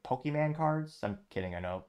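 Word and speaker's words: Pokémon: Is it like a collectible, like Pokemon cards? I'm kidding, I know it's pronounced Pokemon, but nevertheless, let me know in the comments.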